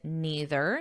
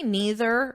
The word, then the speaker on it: neither: word did not with neither. So let me write this here. You can say neither or neither. There are two acceptable pronunciations, neither, neither.